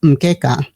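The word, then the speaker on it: mkeka: canara is a map a mat which is pronounced mka symbolizing our historical Foundation as part of K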